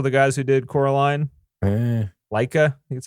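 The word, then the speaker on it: Laika: Box Trolls also the guys who did Coraline Leica that's how you say it four ParaNorman also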